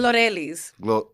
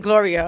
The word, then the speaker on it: Glorelys: No, pronounce it for everybody. Glorelys. Yeah, you're not gonna get it. No, but you did such a great job. You tried. At least you tried. Everybody be like Gloria.